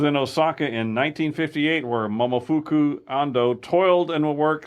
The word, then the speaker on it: Momofuku: Okay, here, I'm going to spell it first. It's Momofuku. Momofuku.